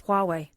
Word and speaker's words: Huawei: By the way, in the Chinese phone company, it's pronounced Huawei. So I'm saying Hawaii. It's not pronounced either way. It's Huawei.